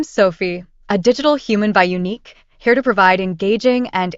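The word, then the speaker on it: UneeQ: were unique tell me more about you unique unique pronounced unique is a company specializing in creating digital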